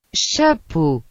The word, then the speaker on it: chapeau: Las letras A, U, O, E, A, U se pronuncian como un O. Por ejemplo, chapeau, que significa sombrero.